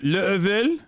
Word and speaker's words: Laval: It's pronounced Level?